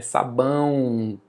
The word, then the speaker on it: sabão: Sabão, é o som do U. É por isso que eu falo: "Levem conta o som. O som do a e i o u. Na semivogal, o som do i e o do u nós vamos chamar de semivogal, mas é som, não é necessariamente letra, porque nesse caso aí sabão, a letra é o, mas o som é u.